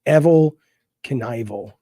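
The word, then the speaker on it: Evel Knievel: on uh evil canal he didn't even spell his name like evil his name is evil canival is how you say it final jump let's see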